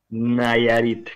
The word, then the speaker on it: Nayarit: Nayarit, correcto, pero lo Ah, pronuncias bien, me gusta.